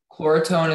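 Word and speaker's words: Chloretone: Chlorotone is the only pronunciation.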